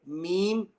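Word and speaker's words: م: Okay, the following three letters are pronounced using both of the lips. Okay, that's your upper lip and your lower lip. The first one being ba, ab, ba. Second one mim, mim, and the last one waw, aw, ew.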